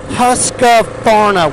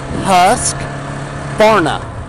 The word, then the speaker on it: Husqvarna: pulley for God's sake pronounce the name right it is not Husqvarna with an a its husk corn up and guess what it's